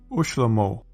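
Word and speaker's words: וּשְׁלֹמֹה: The same thing happens, that is, a v turns into an u, when the first letter has a sheva underneath. Ne'arim, young man, becomes unarim, and young man. Shlomo, Solomon, becomes ushlomo, and Solomon.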